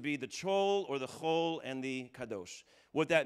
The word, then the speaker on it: chol: This is called the, really C-H-O-L is a better way to spell it.